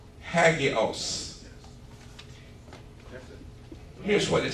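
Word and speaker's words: ἅγιος: It's a word that is pronounced, and I'll spell it if somebody's writing, but you don't need to. It's hagios.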